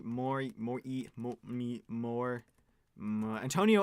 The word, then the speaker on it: Antonio: has ever been pronounced so my first name Antonio is generally pronounced correctly unless someone says Anthony no mm-hmm which happened